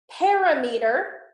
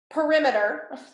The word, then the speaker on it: perimeter: measure legs right so parameter perimeter is how you say it perimeter measures lengths as